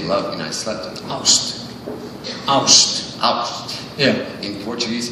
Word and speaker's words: ást: Ást.